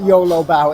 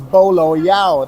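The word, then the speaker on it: bolo bao: been saying it wrong it is not YOLO bow it's not you only live once bow it is bolo Yao that is the but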